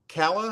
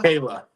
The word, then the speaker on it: Calah: Is it Kala? Kayla. It's Kayla. Kayla. Okay. Okay. It's a lot more simple than it looks.